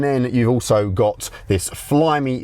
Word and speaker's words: Flyme: And then you've also got this Flyme sound system, and Flyme is the brand that they use for the entertainment screen as well.